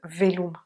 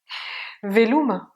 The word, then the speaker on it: Veloma: eh bien c'est le velum. Velum, le et, le e, le o qui est ou et le a, c'est velum.